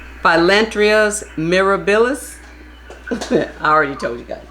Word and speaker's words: Phyllanthus mirabilis: Philo mirabilis. Phyllanthus mirabilis.